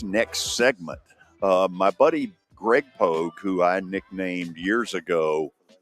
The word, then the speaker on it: Pogue: My buddy Greg Pogue, who I nicknamed years ago Pogue. Everybody else, it's Pogie, but I went with Pogue because if you spell it out, Pogue is the way it looks.